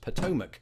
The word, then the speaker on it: Potomac: say with absolute confidence it is pronounced Potomac if only the tone